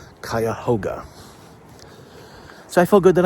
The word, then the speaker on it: Cuyahoga: actual Native American Wood they aren't 100% sure but the park is officially called kayoga so I feel good